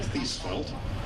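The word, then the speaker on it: Thiesfeldt: am Jeremy thel and if you see my name in writing and wonder how do you pronounce that name just think of seat belt my my wife teaches little kids and that's how she helps the kids remember how to pronounce her name so Jeremy thel and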